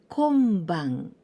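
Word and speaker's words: 今晩: Tonight, konban, the greeting word, good evening.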